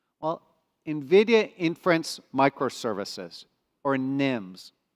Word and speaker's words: NIM: Nvidia inference microservices or Nims a very short word easy to pronounce nim nim what is a Nim